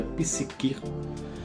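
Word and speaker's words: ψυχή: alma no grego, eh, se pronuncia psiquir, que querem interior, aonde está contido a os sentimentos, o desejo, a vontade.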